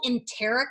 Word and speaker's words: enteric: These capsules are cool because they're called enteric, I believe is how you pronounce it, coated capsules.